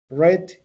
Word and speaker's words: read: For example, to read, read, read. You pronounce it like red color.